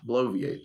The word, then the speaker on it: bloviate: spell it b-l-o-v-i-a-t-e okay blow V8 bloviate okay and this means